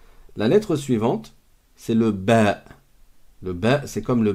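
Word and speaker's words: باء: Là, c'est comme un B en français. Sauf qu'on dit ba. La lettre, elle s'appelle ba.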